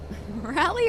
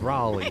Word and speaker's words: Raleigh: So, it's Raleigh. You both are wrong.